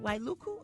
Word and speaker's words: Wailuku: other supplies at the War Memorial Stadium in Wailuku is that said it right Wailuku okay she said I came earlier just to